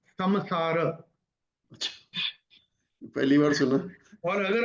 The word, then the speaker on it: संसार: तो संसार जो आपने बोला ना, एक्चुअल उसका रूल के हिसाब से उसका उच्चारण होगा समसार।